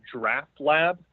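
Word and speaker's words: Draught Lab: So it's called Draft Lab. So let me spell it for you. It's DRAUGHT, like draft beer, and then lab, all one word.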